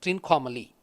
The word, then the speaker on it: Trincomalee: Shiva with a triangle is Trikonamalai, which is pronounced in English as Trincomalee.